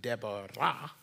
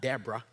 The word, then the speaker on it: Deborah: It's actually Deborah in the Hebrew, not Deborah, right?